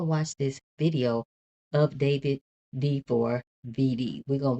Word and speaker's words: D4vd: Um, pronounced David, not D4 VD.